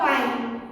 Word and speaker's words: Payeng: But while we are pronouncing, we should pronounce pine only. We should not pronounce the G.